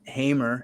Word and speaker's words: Hamer: uh excited about our guest Today Jason uh hamr HR right I pronounce that right Hammer y uh Jason hamr he is a u business owner kind of